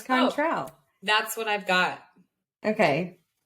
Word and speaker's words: Cointreau: I'll spell it. Okay. Okay. Cointreau. Contral. Sure. Yeah, it's Contral.